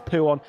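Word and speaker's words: Pouhon: I'm not going to try and do the French pronunciation of it. We all know it as Pouon, and not troubling the white lines either on the right-hand side of the track.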